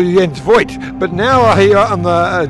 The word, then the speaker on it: Jens Voigt: Well, apparently I am Sir Jens Voigt nowadays because I'm working in TV now. No, it's my mom who would call me Jens Voigt.